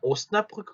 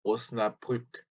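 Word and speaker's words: Osnabrück: 자, 오스나브르크 같은 경우는 또 도시 이름이거든요. 근데 발음이 조금 어려울 수 있어요.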